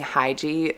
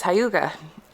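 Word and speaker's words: hygge: That's how you pronounce it, Holy Hyuga. And I've been saying Hygie like forever, but I guess it's Hyuga.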